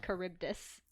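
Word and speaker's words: Charybdis: It's the Adysius has to sail between You may know of it as being pronounced Kuribdus. Okay. I was so confused. I was like, what is he talking about? Oh, Caribus then.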